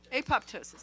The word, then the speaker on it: apoptosis: cancer cells it induces apoptosis i think that's pronounced that right apoptosis thank you vic got me there it induces